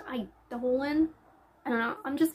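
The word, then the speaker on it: Eidolon: books Radiance and idolan I had to look that up because I kept saying edolon I still think it sounds better ealon but it's pronounced idolan I don't know I'm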